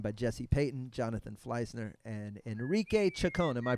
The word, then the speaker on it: Enrique Chacon: I'm joined by Peyton, Jonathan Fleissner, and Enrique Chacon. Am I pronouncing that correctly? Yeah, Enrique Chacon.